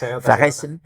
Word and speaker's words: Fressen: Por ejemplo, Essen es el verbo Essen, es el verbo comer para humanos y Fressen, eh Fressen, yo lo digo más en con la pronunciación alemana que es Fressen, es el verbo de comer que se usa solo y exclusivamente para el comer de los animales.